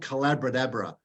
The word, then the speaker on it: Collabradabra: It's called Collabradabra. It rhymes with abracadabra because it's the magic of collaborative conversations.